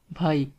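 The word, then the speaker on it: بھائی: Brother is bhai, bhai, bhai, Like in here, first say bha and then say e. Bha e, bhai.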